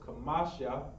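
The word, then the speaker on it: חמשה: And according to this text, when we see this, we keep seeing kamash with a ha at the end. So looks like we're going to be pronouncing this as kamasha.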